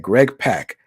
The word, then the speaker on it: Greg Pak: out this week that Greg Pak is actually pronounced Greg Pak. How did I find that out? I followed him on Twitter, and on his Twitter he says rhymes with rock.